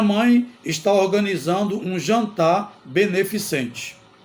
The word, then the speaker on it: beneficente: letra C outra palavra beneficiente a palavra correta é beneficente não tem o i beneficiente não existe neste caso beneficente que